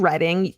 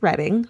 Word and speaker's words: Reading: She was a student in the early '70s in Reading, UK, pronounced Reading rather than reading as in books.